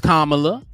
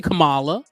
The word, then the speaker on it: Kamala: right who are black we know it's kamla some people say Kamala my God like at